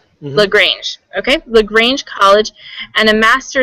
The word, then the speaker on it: LaGrange: How do you pronounce that? Sure, LaGrange. Mm-hmm. LaGrange, okay.